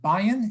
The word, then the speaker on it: Bayan: So I see we have one question from Bayan. Am I pronouncing correct? Thank you. Bayan, yes.